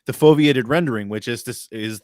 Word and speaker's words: foveated: gonna say it wrong the is it foveated rendering foviated rendering yeah I said it right the foveiated rendering which is this